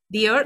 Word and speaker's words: Dior: Dior. That's the pronunciation.